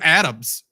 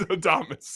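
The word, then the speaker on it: Adames: sure you said will adamus right I said Adams it's got to be Adams I know it's adamus yeah yeah yeah yeah Adam is so cool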